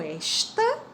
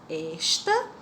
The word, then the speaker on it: esta: lembrar que existe o esta, que não tem acento, e o está, que tem acento. Olha a diferença da pronúncia. Esta e está. Quando não tem acento é esta, quando tem acento é está.